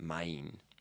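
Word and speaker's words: 満員: people um mine it's like written mon in but you got to pronounce it mime and finally like if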